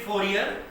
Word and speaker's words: Fourier: what we call the Fourier transform. We read it Fourier, but mostly when you listen to some foreign mathematicians, the people from Europe, they call it Fourier transform. Like the last R is silent.